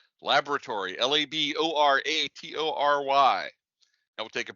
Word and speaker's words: laboratory: fourth word is laboratory to use the british pronunciation laboratory l-a-b-o-r-a-t-o-r-y now we'll take